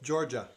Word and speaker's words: Georgia: And so she helped me understand how to pronounce it because it's spelled Jorja. So I said Jorja. What is it? Georgia.